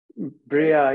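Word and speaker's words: Beriah: And you have Beria, the subtle body. Correct? Correct pronunciation? Bria, yeah, creation, thought and intellect, yes.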